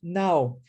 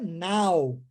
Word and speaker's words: now: A primeira é now, e agora a segunda é know.